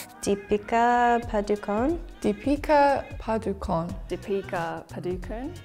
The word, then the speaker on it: Padukone: DEA padukon DEA padukon dea padukon it's really nice to hear them pronounce the surname right because I've heard a